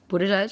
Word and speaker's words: Buttigieg: It says boot edge edge. But when you look at it, it's Buttigieg.